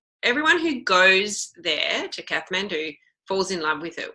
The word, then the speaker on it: Kathmandu: that so I guess I've been pronouncing it wrong forever because of the adventure store calling it Kathmandu but it's obviously Kathmandu do you men do